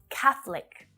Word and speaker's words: Catholic: Catholic. This one's tricky because of that TH sound, right?